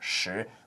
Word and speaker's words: 食: And in Mandarin, sek is pronounced shi, which actually is also, if you read Tang Dynasty poetry, you read some classical Chinese, it's also the word to eat.